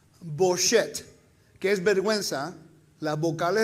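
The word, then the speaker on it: בושת: No con U, pero con O. Boshet, que es vergüenza, las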